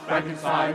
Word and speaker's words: Frankenstein: Frankenstein? Is that true, Dr. Frankenstein? Is that true? Is that true? Is that true? Is that true, Dr. Frankenstein? That's Frankenstein. My name. It's pronounced Frankenstein.